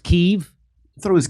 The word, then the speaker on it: Kiev: sight uh call what it's pronounced keith it's pronounced kiev i thought it was kev no it is not i know that's what they're saying uh yeah i it's chicken key yes it's not chicken keef and so i felt differently k-i-e-v chicken kiev